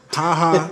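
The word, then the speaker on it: Ha Ha: It's spelled H-A-H-A. Really? Oh, wow. Yeah, I saw. I that. thought it was like JAH. Oh, my, wow.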